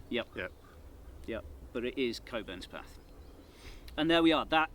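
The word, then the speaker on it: Cockburnspath: I'm fairly confident I do know how to pronounce this one. Coburn's path. Yeah. Yeah. A lot of people split it up in the wrong way. Yep. Yep. But it is Coburn's path.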